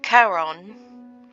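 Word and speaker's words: Charon: your name is Carl it's the Greek mythological pronunciation so Caron what's your favorite food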